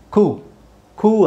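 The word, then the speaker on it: coup: ಪಿ ಎಲ್ಲಿ ಅಂತ ನೋಡಿ ಸೈಲೆಂಟ್ ಪಿ ಸೋ ಪಿ ಎಲ್ಲಿ ಸೈಲೆಂಟ್ ಆಗುತ್ತೆ ಅಂತ ಹೇಳಿದ್ರೆ ಇದು ಒಂದು ವಿಚಿತ್ರ ವರ್ಡ್ ಇದು ಕು ಅಂತ ಓಕೆ ಸೊ ಇದು ಇದನ್ನ ಕೂ ಅಂತ ಹೇಳ್ಬೇಕು ನಾವು ಇಲ್ಲಿ ಪಿ ಸೈಲೆಂಟ್ ಆಗಿರುತ್ತೆ ಸೊ ಪಿ is silent C ಓ ಯು ನ ಮಾತ್ರ ಅದು ಓ ಯು ನ ನಾವು ಉ ಅಂತಾನೆ ಹೇಳಬೇಕು ಕು ಬಹಳ ಅಪರೂಪ ವರ್ಡ್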